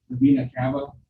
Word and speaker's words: vena cava: I was just gonna ask about how come it doesn't say anything that the blood goes through the vena cava? Did I pronounce that wrong?